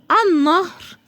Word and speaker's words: النهر: طب في كلمات تانية ما نطقتهاش، زي النهر، الشمس، ما نطقتش انا اللام خالص.